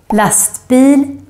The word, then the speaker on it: lastbil: And then finally, you can hear the grave accent, the accent that goes up, down, up, in words with two syllables with typical Swedish ending, such as pojke, rolig, and also in compound words, two words put together, such as lastbil, sjukhus, brandman. And also in this group,